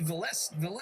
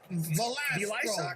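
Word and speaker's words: Valastro: His name is Buddy Velez, something. Oh, my God. No wonder why he was stretching the intro. He doesn't remember the name. He doesn't know how to pronounce my name. Velastro. Buddy Velastro.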